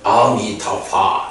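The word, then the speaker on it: 阿彌陀佛: 그런데요, 이 불이 중국 사람들도 불이라고 읽는 건 아닌 것 같아. 옛날에 무협 영화에서 소림사 이런 영화 보면 그 사람들이 스님들이 아미타불 이래 할 때 아미타불 이렇게 안 해. 그 영화에서 보면 아미타파 이렇게 하거든. 아미타파 하는데 이건 아미타불을 불이라고 발음을 안 하고 아미타파 이렇게 발음한다고.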